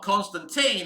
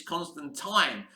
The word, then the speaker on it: Constantine: it isn't it interesting in Sandman it's not Constantine it's constant time and that's the right pronouncement you know um so that Neil Neil himself who created these characters that's how he pronounced it I I never